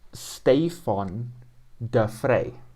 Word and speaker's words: Stefan de Vrij: Stefan de Vrij is Stefan de Vrij.